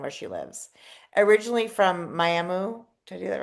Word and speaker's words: Miami: I know your hometown is spelled Miami, and I always know it's not Miami. It's not pronounced Miami. That muh at the end. Muh, Muh. Miami.